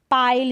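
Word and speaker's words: pile: छिपाना फिर यह है पाइल इसको भी पिल पढ़ दें गलत हो जाएगा पाइल का मतलब ढेर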